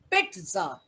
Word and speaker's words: pizza: actually the pronunciation is pizza what is the pronunciation Pizza what is the printer but when we write we write p i z z a but the actual presentation is pizza Santosh this is a